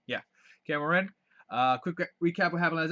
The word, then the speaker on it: Kaer Morhen: Kaer Morhen? Yeah, Kaer Morhen.